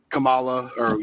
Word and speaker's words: Kamala: I mean, with Kamala, I can't pronounce her name the way she wants to pronounce it. You know what a comma is? Kamala, there you go.